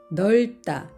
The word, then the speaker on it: 넓다: 그래서 밥다 밥다 그리고 넓다 넓다 여기에서는 리을 받침이 소리가 나고 비읍 받치면 탈락이 되었습니다 넓다 넓다 같은 리을 비읍